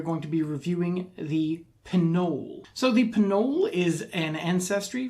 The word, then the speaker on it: Pnoll: beginning is silent for pinols you pronounce the p that is official um so they're a